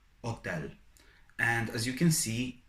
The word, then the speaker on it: hotel: in a word like hotel, hotel. And as you can see, H is silent in Italian, so you never pronounce it.